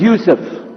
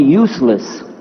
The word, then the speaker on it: Yusuf: My name is Yusuf. Can you say Yusuf? You say Yusuf. Yeah, very good. I wish you'd teach my wife. She keeps mispronouncing it. She calls me useless.